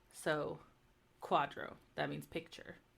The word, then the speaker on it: quadro: always silent and then q u is always pronounced like the qu in quest so Quadro that means picture R